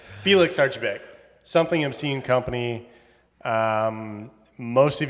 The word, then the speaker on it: Archibeque: Did I just pronounce that correctly? And I'm gonna say Felix Archa. How? I was kidding. You got it. Felix Archibeque.